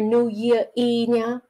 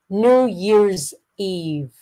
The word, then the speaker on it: New Year's Eve: end New Year's Eve I don't want to hear New Year Eve okay so new so I want one of your resolutions this year is to try pronouncing the ending sound of English words New Year's Eve look